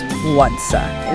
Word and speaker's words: władza: The source material actually tells you to really elongate that first syllable. How so? Like this, Władza.